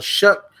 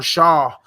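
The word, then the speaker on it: Shough: Dolphins going up against Tyler Shook, uh, or however you pronounce his name, Tyler Shook. I used to call him Tyler Shaw. I used to call him Tyler Shaw in in the show.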